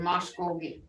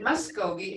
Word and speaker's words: Muscogee: save my school me they didn't say Muskogee they said Moscow and that's how I learned it too but then when I started working here they started pronouncing it Muscogee and spelling it that way so I just went with that but way back and